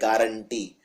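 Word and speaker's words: guarantee: बाद यू लगता है इसको लिखते हैं गुवार एटी लेकिन बोलते हैं गारंटी तो जैसे आप किसी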